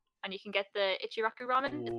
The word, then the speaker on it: Ichiraku: while you're there and you can get the ichiraku ramen is how you say it yes yeah